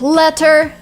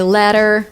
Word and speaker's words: letter: And the same with letter, and then Americans say letter. Letter? But this was T changing into D or R.